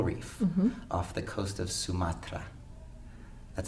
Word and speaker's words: Sumatra: exploring the coral reef off the coast of Sumatra that's how you say it Sumatra and he said that the diversity of organisms